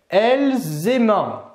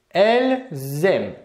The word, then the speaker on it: elles aiment: la terminaison à l'oral attention ici de ne pas prononcer elles aimant absolument pas attention à l'oral on va bien prononcer elles aiment donc ça c'est la